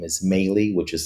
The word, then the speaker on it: Melih: Um, my name is Mey, which is spelled M as in Mary, E is in Edward, L is in Larry.